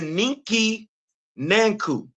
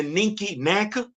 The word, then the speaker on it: ninki nanka: Except you can't see the ninki nanku. I'm sorry. The ninki nanka. Ninki nanka.